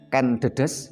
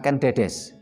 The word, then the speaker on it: Ken Dedes: Begitu juga dengan banyak yang salah baca, umpamanya yang benar adalah Ken Dedes bukan Ken Dedes, bukan Ken Arok tapi Ken Anggruk.